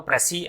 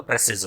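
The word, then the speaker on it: précis: तो सिंगुलर है तो प्रेसी एंड प्लूरल होगा तो प्रेसिस हो जाएगा।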